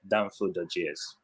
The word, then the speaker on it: Danfo.js: And one of the projects, the open source projects you've been working on, if I'm not mistaken, how do we pronounce it? Is it Danfo.js? Yeah, perfect. Danfo.js.